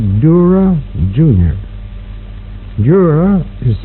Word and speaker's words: Dura: Dura, Jr. Dura is spelled D-U-R-A.